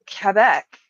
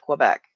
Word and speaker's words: Quebec: Well, anyone who doesn't say it in the French way is going to call it Quebec.